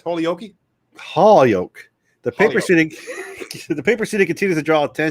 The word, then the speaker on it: Holyoke: How do you pronounce Holyoke? Holyoke.